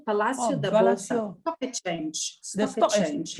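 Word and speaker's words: Palácio: the the place the landmark how do you pronounce bosa palace is that right oh palacio palacio the blessing change the change yes that's right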